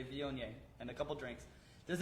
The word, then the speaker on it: Viognier: how to pronounce it take a couple seconds and now you can say vyon yay and a couple drinks